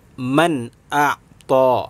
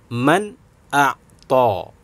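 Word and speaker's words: من أعطى: Cara membacanya harus dibaca dengan jelas terang, yaitu dengan membaca man a'ta. Nah, sekali lagi, man a'ta. Jadi dibaca jelas. Jelas itu bagaimana? Begini, man a'ta.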